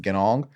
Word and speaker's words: Ganong: I'm pretty sure that's how you pronounce it, Ganong.